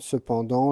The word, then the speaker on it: cependant: Verdoyante, cependant, le T de cependant est en grisé.